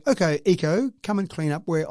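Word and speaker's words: Yiko: and its name is eco spelled y-i-k-o but pronounced eco and so you would say okay eco come and clean up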